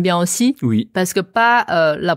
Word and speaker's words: 八: Voilà, donc attention de ne pas confondre encore une fois. Hein. Ti et Ouais. ti. Premier ton, chi. 4e ton, chi. Maintenant, 8. Pas.